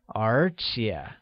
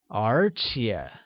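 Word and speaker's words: 和蔼: good moreover translates as archaea which is spoken using a mid rising tone on the first E and a falling rising tone on the second thus it becomes archaea great patience or patient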